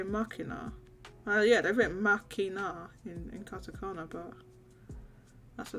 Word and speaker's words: Machina: remember this region locked um Machina yes what said makina yeah I know that's what the casacana says but I mean what does it say what how you meant to pronounce it in English in English like it would be Makino because they they're getting it from deus ex machina or what stuff that's